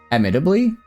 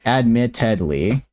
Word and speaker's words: admittedly: Not admittably, but ad admittably. I guess I'm I'm not adding a extra T. Admitt admittedly headedly. Admittedly, I'm saying like idly, not head.